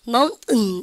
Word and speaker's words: mountain: 쌤이 한번 발음해서 보세요. mountain 이렇게 똥 누는 것처럼 이러고 치워요.